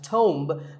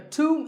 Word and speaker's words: tomb: word is tuned it's often wrongly pronounced as tome but the bee is silent and the O is pronounced with an O sound so to a tomb is a place like